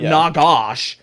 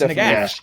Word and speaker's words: Nagash: Like if you look at Nagash, it looks like it's spelled. It is spelled Nagash, and it sounds like Nagash. Phonetic. It's not Nagash. It's Nagash. It's definitely phonetic.